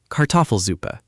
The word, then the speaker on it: Kartoffelsuppe: Kartoffelsuppe. Good. Just smooth out those syllables a bit. Kartoffelsuppe. The stress is on the toff.